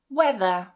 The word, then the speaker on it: whether: Whether? Weather. And yes, this is pronounced the same as weather.